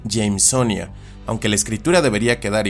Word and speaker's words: Jamesonia: donde géneros como este, que podríamos pensar que se pronuncian como Jamesonia, en realidad deberían pronunciarse Jamesonia, aunque la escritura debería quedar igual que como en el inglés.